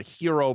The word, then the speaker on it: gyro: will frequently see a breakfast special called a hero breakfast spelled gyro if you've never heard someone pronounce it correctly um which is basically like